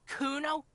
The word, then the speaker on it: Kuno: Kuno no I didn't it's Kuno say it right say it